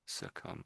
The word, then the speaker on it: succumb: So one big thing is the B does nothing.